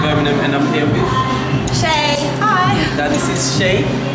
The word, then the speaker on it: Shea: It's spelled S-H-E-A. It's Irish. People often call me Shea, but it's not Shea, it's Shea.